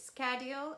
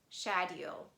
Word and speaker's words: schedule: psychology anchor ache or the word schedule in american english it is schedule or in british english we can pronounce it as shadio and there is only